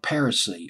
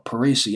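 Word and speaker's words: Parissi: cherry version it was written by Rob per se or Parisi I've just pronouncing this per se PA Riss I rob / in situ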